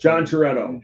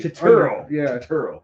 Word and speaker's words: Turturro: John Toretto. There we go. John Toretto. Which I think he's a very Turturro. My bad.